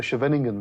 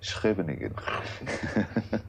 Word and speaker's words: Scheveningen: That's the one they used to make the suspected German spies pronounce. That's right, Yeah, yes, that's right. yes. I would have been caught as a German spy, because I can't pronounce it. Well, thanks to Afrikaans, I might have managed.